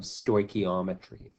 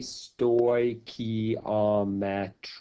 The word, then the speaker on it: stoichiometry: and we're going to introduce this idea of stoichiometry and so you can see here that I've I've spelled it out phonetically stoichiometry stoichiometry and this is an important concept that